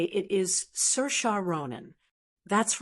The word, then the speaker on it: Saoirse: say or see or sewers, you're definitely not alone. But the correct way to say it is Cersa Ronin. That's right. Cersea is pronounced Cersa, kind of like inertia with an S.